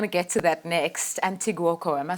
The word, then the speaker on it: Andoni Goikoetxea: Andoni Goikoetxea, am I saying it correctly?